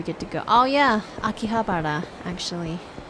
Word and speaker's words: Akihabara: that thanks for sharing oh yeah Akihabara you were close you were close you had the the last couple syllables correct Andy welcome back scorpion